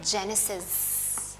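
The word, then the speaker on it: Genesis: में उसको कहते हैं जेनेसिस अब प्रोनाउंस करते हैं इसको जी ई एन जन ठीक है अब यहां गन नहीं है जी की साउंड यहां जी ही है दैट इज अ लेटर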